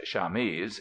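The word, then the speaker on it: chamise: to the same thing this last term pronounced shames is also given to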